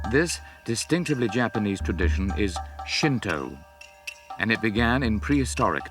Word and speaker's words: Shinto: kami in the japanese language another way of pronouncing where the kami is shinto on a number of key points shinto differs